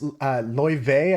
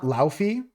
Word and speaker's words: Laufey: This is Loive, I think is how you pronounce their name. Like the movies. I always struggle with their pronunciation of their name because it's Icelandic. It's not Laufey. It's Loive or something like that.